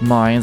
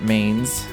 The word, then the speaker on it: Mines: After the Orbital Revolution took place, I guess it's pronounced Mines, I always pronounced it Mains.